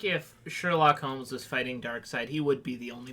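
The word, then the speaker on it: Darkseid: He had the prep time of between Dark Seed shooting the laser and it hitting him. Dark. That was the prep time. Did you say Dark Seed? Yes. It's dark side. It is. Sorry, it's spelled weird.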